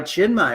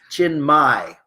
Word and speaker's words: Chinmai: And Charles says, hi, Chinmay. Oh, yeah. Chinmay is spelled Chinmay. M-A-I. M-A-I. My chin. Chin Mai. It's everyone says Chin May. I used to say Chin May.